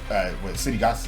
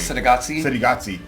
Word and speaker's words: Cittàgazze: Even the second season, you go into Cittàgazze. You pronounce it correctly. Cittàgazze.